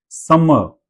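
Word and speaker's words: summer: म, अ की साउंड, अ लास्ट वाले र को हम प्रोनाउंस नहीं करते हैं, खासकर तब जब पीछे वॉवल हो, वॉवल साउंड हो, तो र प्रोनाउंस नहीं होता।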